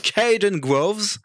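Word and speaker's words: Kaden Groves: Alors, attention à la prononciation, ça va être fantastique. Le Ça premier, tente pas, c'est hein. c'est Caden Groves.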